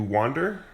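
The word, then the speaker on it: Wvnder: I've been listening to wander uh and the band is called it's called Wander but it's spelled w and it's a v n d e r the V is supposed to be an a I guess uh album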